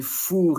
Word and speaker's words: four: English like one two three four and Then fur in French and f o u r like I was pinpointing in the song.